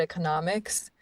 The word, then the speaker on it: economics: And, it's like one of economics, especially, is one of those words where stress shifts. It's economy, but economics.